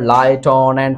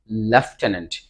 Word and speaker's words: lieutenant: এটা হচ্ছে তোমার লাইটনেন্ট, অনেকে কিন্তু উল্টাপাল্টা উচ্চারণ করবা, এটা অ্যাকচুয়ালি উচ্চারণ হয় লেফটেন্যান্ট।